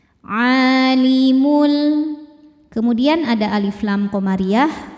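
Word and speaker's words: عالم: Alimul a hukumnya mad thobi'i muqaddar karena ain berharakat fathah panjang. Cara bacanya panjang dua harakat. Alimul.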